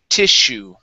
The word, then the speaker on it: tissue: Okay, stress is at the very beginning, and the double S is an SH sound. Tissue.